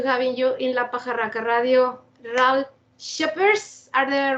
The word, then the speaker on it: Ralf Scheepers: for us to having you in laara radio R sheers are they right pronounced R sheers yes thank you very much